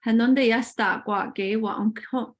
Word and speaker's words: Hënödeyësdahgwa'geh: And as far as the title, in order to help out with that, with the pronunciation, Hënödeyësdahgwa'geh ögwahsä.